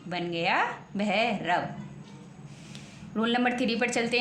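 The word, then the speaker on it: Bhairav: next लिखा हुआ है बी एच ए आई आर ए व तो क्या बन गया भैरव बी एच है बी के तुरंत बाद एच है तो बी के तुरंत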